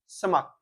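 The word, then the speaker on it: smirk: With ए समक यानी, अब यहाँ पे आई आर, इसको समक बोलते हैं, आई आर यहाँ पे साइलेंट हो जाता है।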